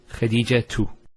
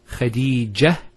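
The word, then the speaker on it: خديجة: And thirdly, if you actually pronounce the last letter with the harakah, so for example, say when say Khadija tu. Notice Khadija tu. We pronounce the ta. If we stop at the ta, Khadija, it's a ha.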